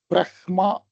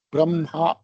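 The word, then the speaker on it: ब्रह्मा: நார்த்ல பிரஹ்மா அப்படி சொல்லுவா, சவுத்துல பிரம்மா அப்படி சொல்லுவா.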